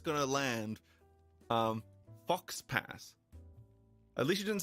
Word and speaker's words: faux pas: least know that um aux is not pronounced ax I I know that uh it's pronounced you know uh um so you've got der and Foe and um you know it's uh it's it's actually got a couple of pronunciations but it never pronounces the X never pronounces the X